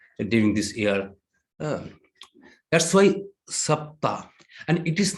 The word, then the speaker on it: Saptah: In Sanskrit, it is said Saptah. It is week. Saptah in English, it is, if I spell it in this way, SAPTA. Saptah, SAPTA. And those who make this caption or these denominations, they added one alphabet also, H. That means SAPTAH.